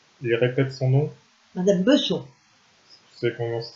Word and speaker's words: Besson: Madame Besson. Tu sais comment ça s'écrit? Ça devait s'écrire Besson, B-E-2-S-O-N, mais on l'appelait Besson.